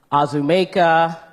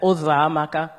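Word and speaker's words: Uzoamaka: And I would have teachers or anyone, neighbors, try and say my name, and it would be Azumeka, Uzamaka, Uzokuza, any version that they could think of other than Uzamaka.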